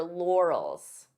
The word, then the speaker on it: laurels: on your your laurels this could be a hard word to pronounce depending on your native language because we have an R and an L lore lore so divide the sounds until you're comfortable with each sound L and then you can pronounce it as one Laurels Laurels the expression is